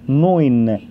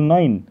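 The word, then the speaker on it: neun: رقم 9 التركيبه دي بتتنطق اوي، يبقى دي نوين، اوعى تقول ناين ناين يعني لا.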